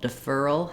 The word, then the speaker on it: deferral: word rural for example deferral has the same pattern of an Earl I have to go in and out of this r um from my fur syllable to my R syllable defer deferral I don't need to make two separate RS but it is connected